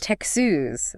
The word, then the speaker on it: Texas: But remember, there's a distinct tex sound at the beginning. Oh, Texas. Texas.